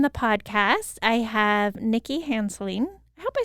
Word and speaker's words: Hanseling: podcast i have nikki hanseling i hope i said your last name right nikki how do you say it yeah hanselling okay yes and she is